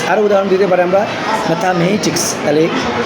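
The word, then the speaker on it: mathematics: আরও উদাহরণ দিতে পারে আমরা ম্যাথামেটিক্স, তাহলে M এর উপরে আমরা জোর দেব।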